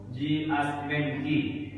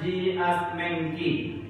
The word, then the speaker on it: Jias Mengki: Nama Ustaz yaitu Ji Asmenki.